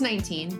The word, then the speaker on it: XIX: Yeah, it's pronounced 19, but... Yo! 19, the artist formerly known as 19 is in the house.